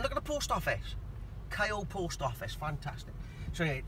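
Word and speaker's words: Caio: Kyle. Kyle, how do you spell that?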